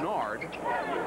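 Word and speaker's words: Nared: N-A-R-E-D is how it's spelled. Pronounced Nard.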